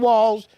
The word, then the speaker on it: Walz: My name Tim Walz. Rhymes with balls, but I just lie.